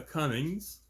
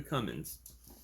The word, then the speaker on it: Cummins: by The Fabulous Micah Cummings coming I'm sorry I said his last name wrong it's come in so there's no G like a Cummins and um he has